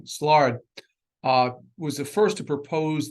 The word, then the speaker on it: Szilard: Now, Leo, I always pronounce this wrong, Szilard, was the first to propose that we could keep a self-sustaining chain reaction.